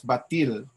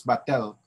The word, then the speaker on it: batel: please take note that sometimes it's pronounced as batil we done with an eye you know so it's but generally people would simply use battle this study used interview